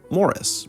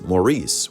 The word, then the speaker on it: Maurice: are talking about Morris pronounced like Morris not Maurice which I first made